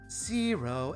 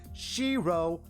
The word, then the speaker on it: Shirou: Zero Emia. Zero Amelia. That's a weird name. Oh, that's wrong. That doesn't sound like a western name. You pronounce it Shirro Emmea. Emma.